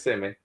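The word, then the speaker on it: Kissimmee: It's spelled just like it, but it's it's kissmi.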